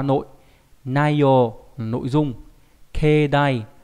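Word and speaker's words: 境内: Keidai đặc biệt trong chữ cảnh và chữ nội thì đọc là keidai có nghĩa là cảnh bên trong đình chùa. Bình thường cái chữ cảnh đọc là kyo ví dụ trong từ kankyo đúng không nhỉ? Là môi trường ấy, hoàn cảnh ấy. Thế nhưng mà riêng trong trường hợp mà ghép với lại chữ nội nó cũng không đọc là kyounai mà đọc là keidai nhá.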